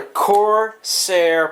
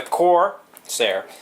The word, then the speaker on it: Corsair: Alright guys, so I got another Corsair product. Yeah, that's right, I said it right finally. Now stop your bitching about me saying Corsair. Not pronouncing the R. But anyways, so this is the Corsair VX 550 watt power supply.